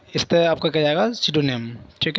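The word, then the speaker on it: pseudonym: आगे सिडोनिम। सिडोनिम क्या होता है, पी साइलेंट है इसमें।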